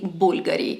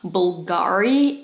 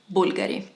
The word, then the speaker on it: Bulgari: is crazy for Bulgari yes it is written with a V but you say Bulgari it's not Bulgari it's not Bulgari and it is not bufguri it's simply Bulgari an absolute symbol of